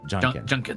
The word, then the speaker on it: Janken: It's like more Japanese pronounced. So Janken.